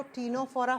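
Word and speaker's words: Ctenophora: निकला हुआ है जिसको टीनो फोरा फाइलम कहते हैं तीन नंबर पर आता है स्टूडेंट टीनो फोरा लिखा जाएगा सी से प्रोनाउंस किया जाता है टी से टीनो फोरा सेम नाम हिंदी में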